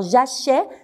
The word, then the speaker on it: j'achète: prends pas comme ça je dis j'achète jeu ouvre un peu la bouche alors j'achète c'est l'accent grave qui met un accent grave sur le avant la dernière syllabe j'achète elle achète voilà à